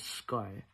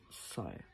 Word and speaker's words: Sai: Um I mentioned on my Tik Tok his name was Sky like S KY but it's actually pronounced Sai.